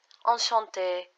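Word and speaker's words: enchantée: For this lesson, just it's enough to only know that for females, when we write it down, we use two E's. So one with accent aigu and just normal E. Enchanté, enchanté. There is no difference in pronunciation.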